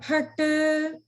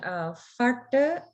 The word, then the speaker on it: phat: And sometimes there may be a variation of saying farta as the pronunciation of Mahaprana Pa, but the way that that I was taught is that it's the Mahaprana Pat, Pat. So there's a strong flowing out of breath.